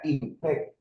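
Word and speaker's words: INPEC: aquí en Colombia las siglas de esta institución se llama se pronuncia impec Instituto Nacional penitenciario y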